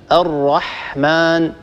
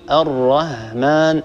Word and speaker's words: الرحمن: هذا موجود عند الأفارقة مثلا، ويعني هو شائع عند العجم، فبدل أن يقول مثلا الرحمن يقول الرهمان، هكذا ينطق الحاء هاء، أو ينطق الحاء ينطقها خاء.